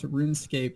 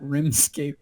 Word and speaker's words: RuneScape: He asks, question, how did your parents pronounce RuneScape growing up? My dad always called it that RimScape job, as in rim. That Rimscape game, as in rim job. RuneScape. Mine was RoomScape.